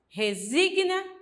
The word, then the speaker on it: resigna: e Sagna será não O correto é falar repugna resina estagna E por quê Porque uma consoante nunca pode ficar sozinha não a sílaba então se